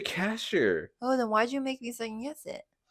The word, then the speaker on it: Kasher: Moshi, Kasher? Moshe, I don't know how to say his Cash. fucking name, It's dude. Moshe Kasher.